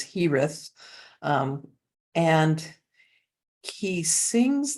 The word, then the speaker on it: Girez: HTH and um one the way he spells his name is GI re EZ but it's pronounced in English at least as hith um and he sings